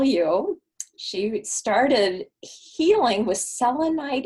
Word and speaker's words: selenite: she started healing with selenite is that how you say it selenite villainite yes and we were having